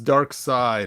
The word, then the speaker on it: Darkseid: So it's Dark Side is not a seed.